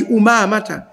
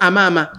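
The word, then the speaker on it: Umamah: akisema huyu ni abi umamata hamza yake ina dhuma kwenu imetiwa dhuma haikutiwa imetiwa eh kama haikutiwa weka usije ukasema amama umama ndio linavyotamkwa jina lake ingawa ingawa lugha inaruhusu kusema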